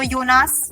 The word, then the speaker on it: Jonas: So, Jonas, remember J is Y in German. So, we say Jonas.